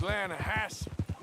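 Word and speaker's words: Lannahechee: near here yeah but it's pronounced lanahassee why is everything in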